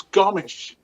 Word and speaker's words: Gomes: at the end, and correctly pronounced, it's Gomes, because it's Portuguese, and part of my ancestry is Portuguese, and so.